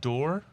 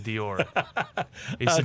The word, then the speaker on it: d'Or: a saturn cast yes and i believe it's pronounced door door and i know that only because a scotsman yelled at me for saying dior this is not i'm not this is not